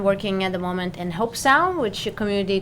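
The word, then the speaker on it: Hobe Sound: here's the other thing I don't understand about hope sound it's spelled H OBE hell that's home that does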